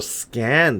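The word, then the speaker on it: Skaen: The effort Oh, Scan. That's how you say it.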